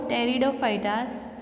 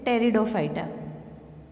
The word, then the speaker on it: Pteridophyta: Here you can see that the word Pteridophyta starts with the letter P, but here P is silent and so we spell it as Pteridophyta.